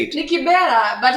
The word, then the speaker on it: Kibera: And we saw the videos of him taking hand sanitizers to Kibra. Now I know how to say it. Ni Kibera, but it's okay. Alisema Kibra.